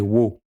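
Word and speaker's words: を: Avec le W, wa et wo. Mais en réalité, wo va se prononcer o et permettra de marquer le complément d'objet direct.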